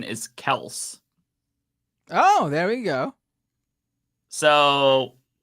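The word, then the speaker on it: Kelce: Business Insider article citing Travis himself says the pronunciation is Kels.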